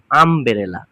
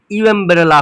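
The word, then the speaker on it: umbrella: ইউ দিয়েই শুরু হয়েছে, কিন্তু উচ্চারণ করে দেখো আম, ইউ আসছে না, ইউ এমব্রেলা হচ্ছে না, কিন্তু আমব্রেলা। তাহলে আছে ইউ কিন্তু উচ্চারণটা ইউ হচ্ছে না, আ, আ, আমব্রেলা মানে আয়ের মতো হয়ে যাচ্ছে।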